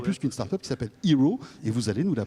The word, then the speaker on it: Heraw: plus qu'une start-up, qui s'appelle Hero. Et vous allez nous la présenter. Ça s'écrit H-E-R-A-W.